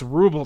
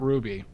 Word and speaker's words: Ruble: It's Ruble, not Ruby.